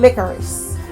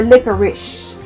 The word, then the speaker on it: licorice: the country, patchouli, and licorice. Or licorice. You know, some people pronounce licorice as licorice. So, again, depending on where you are from in the country or the world.